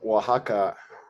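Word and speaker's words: Oaxaca: you're in a fascinating location I'm actually in Waka in Mexico it's spelled actually o a x a CA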